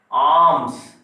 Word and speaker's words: alms: Arms, LE silent word.